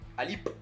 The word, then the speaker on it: Alip: Y actualmente en Rusia es suplente, está siendo relegado por el kazajo Nurali Alip, espero pronunciarlo bien. No tiene muchos minutos en Rusia. Me gustó el acento en la P. Alip.